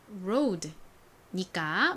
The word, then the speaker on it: road: 한국식으로는 그냥 로드라고 읽지만 실제 영어식 발음에서는 이렇게 road, road와 같이 발음이 납니다.